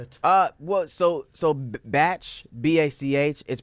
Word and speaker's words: Bach: Uh, well, so so batch B A C H is pronounced Bach.